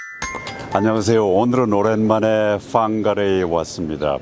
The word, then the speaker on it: Whangarei: 오늘은 오랜만에 Whangarei에 왔습니다. 보통 Whangarei라고 얘기를 하는데 Whangarei가 정확한 발음일 겁니다.